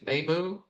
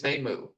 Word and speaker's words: Nemu: instance where somebody's named Nemu, they don't shorten it to Nam in the subtitles or in the dub. Her name is Nemu, not Nem.